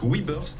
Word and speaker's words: WeBurst: Aujourd'hui, c'est une bonne boîte 100 % qui nous rend visite Webburst.